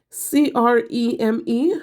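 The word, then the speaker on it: crème: this one is called creme c r e m e h um Accent on the first e creme and all I can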